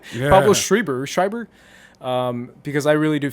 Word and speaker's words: Schreiber: of American Gods so shout out to Pablo's rider because I really wanted to I'm saying his name wrong Pablo Schreiber schreiber because I really do feel like he